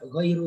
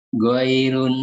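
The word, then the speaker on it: غَيْرُ: Ghairun, bukan maghdubun. Bentar. Pak Ahmad bacanya bukan ghairun, nggak pakai tanwin. Tapi ghairu, doma saja. Bukan ghairun.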